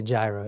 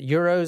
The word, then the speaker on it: gyros: Euros Euros no we're from America we say Gyros no there's a song by there's a song that Luke um Luke BR there's not even a u in it Euros is what it's pronounced the UK spins Yos